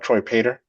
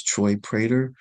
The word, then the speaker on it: Troy Prater: Counsel, for the record, is that Troy Prater?